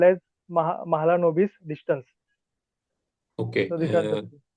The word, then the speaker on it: Mahalanobis: Sir, he is PC Mahalobis. Mahalanobis.